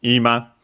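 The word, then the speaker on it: 今: But yeah, it comes from ima, on its own accent on the I, on the first mora, now.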